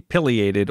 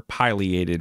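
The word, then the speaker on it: pileated: This is the piated or piliated woodpecker depending on how you prefer to pronounce it.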